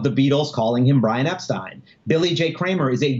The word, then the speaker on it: Epstein: which is the family Brian Epstein's family says Epstein you know that is the way the family pronounced their name you know and the source that I that I would quote is Brian's mom Brian's mother says the way the correct way to pronounce my family's name is Epstein and the fact that everybody called my son Epstein they said it wrong yoo-hoo so you know